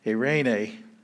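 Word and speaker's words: εἰρήνη: night peace that's anyway a rain a a rain a with three vowel sounds diphthong two vowels three syllables so down here at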